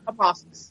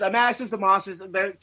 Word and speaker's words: Amasis: But is it Amasis or Amasis? How is that pronounced? Amasis. Yeah, it was Amasis.